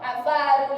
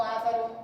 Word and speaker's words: avaro: Temos ali, ó, avaro e não ávaro, tá?